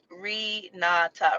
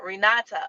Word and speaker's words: Renata: title guys y'all see rinata renata okay i'm sorry renata thank you for being